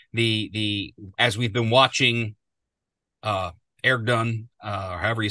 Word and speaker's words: Erdogan: supposed to go, the as we've been watching Erdogan, or however you say his name, I call him Aragon, but I know that's not Erdogan.